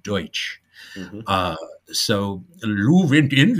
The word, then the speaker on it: Deutsch: You think about it, Dutch is actually the wrong pronunciation of Deutsch.